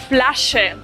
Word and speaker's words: Flasche: Ich möchte eine Flasche Bier. Quiero una botella de cerveza. La SCH se pronuncia sh. Flasche.